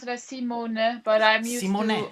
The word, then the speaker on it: Simone: No, it's Simone. Is it Simone? The Dutch people pronounce it as Simone, but I'm used Simone.